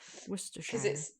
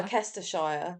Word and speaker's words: Worcestershire: It's the hardest of the shires to say, Worcestershire, Worcestershire. because it looks like it's pronounced Worcestershire. Yeah. Worcestershire.